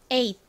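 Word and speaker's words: eight: 쓰이는 소리에 소리로 쓰였습니다 연결해 보면 에가 되죠에 빠르게 발음할 때에는 티가 마치 바침 럼 들어가서 에잇 이렇게 발음이 되기도 합니다 8은 뭘까요 여러분 숫자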